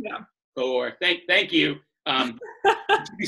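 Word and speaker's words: Cahors: Cahor, and it's two syllables, two syllables, not one. Yeah. Cahor, thank you.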